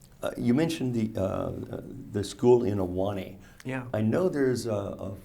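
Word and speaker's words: Ahwahnee: And Aulani is spelled A-H-W-A-H-N-E-E, which you learn when you live there as a kid.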